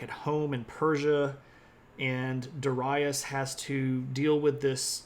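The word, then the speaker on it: Dārayavauš: uh this of course looks like Darius it's pronounced dasas and that's okay you can call him Darius and people will know who you're talking about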